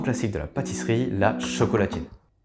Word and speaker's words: chocolatine: autrichien la lettre D prononcée t la première prononciation retenue a donc été chocolatine à côté de ça si c'était présenté quand